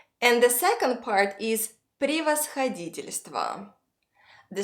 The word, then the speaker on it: превосходительство: All unstressed yes give a short I sound. And altogether, the second part is превосходительство.